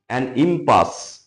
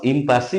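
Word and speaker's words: impasse: সঙ্গ সাথী খোঁজেনভার রিচ ইমপাস ওটা ইমপাস ইমপাসি উচ্চারণ নয় ইমপাস ইম্পাস মানে কি?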